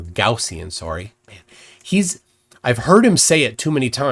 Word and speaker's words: Gaussian: I got got to just in case you don't know gajian is the wrong pronunciation it's goian or gaussian sorry he's I've heard